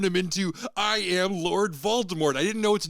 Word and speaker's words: Voldemort: not surprised because like that's the french way and she wants to